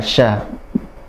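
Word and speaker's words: ش: Huruf sya tempatnya ada di tengah lidah. Sya, ja, syaya, sya dari tengah lidah menyentuh ke langit atas ya. Sya, nafasnya mengalir dari atasnya. Sya. Jadi kayak kita ngusir ayam.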